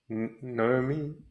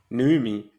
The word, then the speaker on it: Noomi: Naomi Repaki. Who? That's it. Her name is spelled Noomi. Noomi. Noomi.